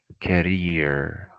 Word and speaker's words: career: Career. Career. Okay. This word consists of what? Two syllables. Two syllables. Career. It's not career. No, it's career.